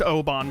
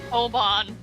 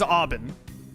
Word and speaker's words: Aubin: I cannot believe this is pronounced Oban, by the way. Oban. I thought for sure it was Aubin.